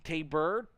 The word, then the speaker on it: Tabor: the love as FYI Tabor is pronounced more like T tabber as a taser is